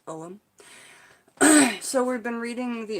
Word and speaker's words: Ogham: That's the pronunciation, not Ogham, like I thought. It's Ogham.